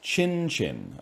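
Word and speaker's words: qinqin: Chinese banjo called a Well, let's see what Wikipedia has me pronouncing it as. A a kinqin. It's chin chin.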